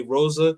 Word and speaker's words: Rosa: In English, we say Rosa. So what I do know is that in Portuguese, the R's are pronounced like H's.